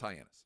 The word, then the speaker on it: Hyannis: It's Hyannis. Okay. Hyannis, Massachusetts. Here's what happened. A car thief was trying to steal a car in Hyannis, and he inadvertently uncovered a kilo of cocaine hidden in the trunk.